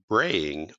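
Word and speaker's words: braai: Because it is in the Southern Hemisphere, most families gather for a cookout called a braying on Christmas in what country? And that's spelled Braaaing.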